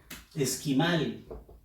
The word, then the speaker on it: esquimal: Esquimal. Fuerza de voz en la sílaba mal, que es la última.